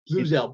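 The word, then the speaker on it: Bluzelle: BLZ, I can never pronounce it right. Blue Zell or Blaze or what? I never get it right. Blue Zell. What is it? Blue Zell.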